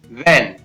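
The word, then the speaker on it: when: इसी प्रकार वैन, वैन में भी यहाँ पर H है वो साइलेंट रहता है।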